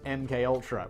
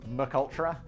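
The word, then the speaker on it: MKUltra: my thing i was abducted to mk ultra which i once pronounced mukultra everyone was like ah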